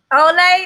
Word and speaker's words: Ole: Ole. Ole, that's how you pronounce.